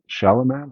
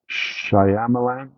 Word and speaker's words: Shyamalan: Night Shyamalan. How do you say his last name? Shyamalan.